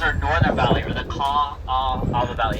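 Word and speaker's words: Kaʻaʻawa: Now this valley right now is our northern valley, or the Kaawah Valley. It's spelled K-A-A-A-W-A.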